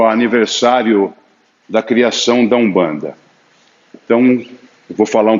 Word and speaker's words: Umbanda: Então E como é que você pronuncia? Com o U. O M você pronuncia com o U, assim como o N também. No quimbundo, no kikongo, você vai encontrar N ou M para iniciar palavras. Você pronuncia como se tivesse um U antes.